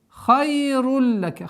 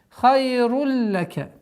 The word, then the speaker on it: خَيْرٌ لَكَ: Хайруль лака. Ха твердый звук. А здесь у нас правило идгам. Ассимиляция, без назализации. Хайруль лака.